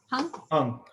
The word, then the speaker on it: Hung: Hung, yeah.